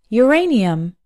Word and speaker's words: uranium: of words that start with you but are pronounced with a your sound for example uranium as well as the word family of urine